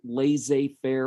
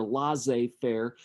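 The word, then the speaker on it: laissez-faire: this phrase before and I don't particularly care how you pronounce it La Fair or L fair I hear both in the economics world so either one would be fine so we'll say l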